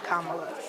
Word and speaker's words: Kamala: Ella refer to me as mamala to rhyme with my name Kamala in January 2019 I